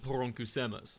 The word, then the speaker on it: poronkusema: It's always funny to listen to people who don't pronounce the Finnish very hard R to see people try to pronounce it.